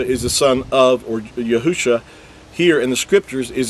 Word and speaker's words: Yahusha: spelled with 5 letters, which translates into Yahusha, and that's the original text. Now again, with vowel points, it's going to say Yahushua, and that's because they vowel pointed and added an extra